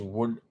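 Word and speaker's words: would: a very phonetic language w o u l d is wood w-o-od is wood so there are many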